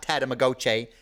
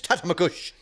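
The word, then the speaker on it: Tatamagouche: For all you non-islanders, in case you're wondering, it's not Tatamagoche. It's Tatamagush.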